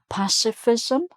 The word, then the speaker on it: pacifism: "Pacifism", so "pac", although it's spelt with a "c", it sounds like an "s".